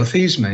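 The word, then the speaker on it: Theismann: to correct this because his name was originally pronounced. So Joe Theman, you were right, even though you were corrected.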